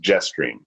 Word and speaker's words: JSTRM: For example, the JSTRM waypoint would be pronounced Jetstream.